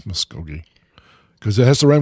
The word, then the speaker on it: Muskogee: country singer meryl haggard if you had you would know how to pronounce m-u-s-k-o-g-e-e and he i i said miss koji probably and everyone's cringing and he sends a link to a youtube video and oki from muskogee that's the way i